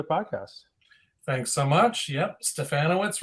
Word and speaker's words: Stefanowicz: the podcast thanks so much yep stefanowitz rhymes with banana what's Rob no you know there